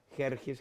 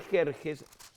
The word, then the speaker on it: Jerjes: mexicano no es cierto donde méxico se escribe con x pero se pronuncia con jota de igual manera en